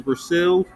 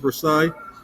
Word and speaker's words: Versailles: the second one is versel or Versa I'm not sure how you pronounce I think it's Versailles then you got a